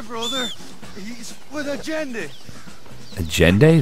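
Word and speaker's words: Allende: he's with a jendi agend that's how you would pronounce a l l e n d e agend it's a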